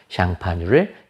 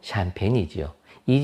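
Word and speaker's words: Champagne: 그 마을 명칭이 샹파뉴입니다 샹파뉴를 영어식 발음으로 샴페인이지요이 지역에서 생산하는 것만 샴페인이라고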